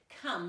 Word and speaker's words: come: so far this year come C ome even followed the rules we're sneaky silent e makes the bow state's name it should be comb but instead it's come so our sight words are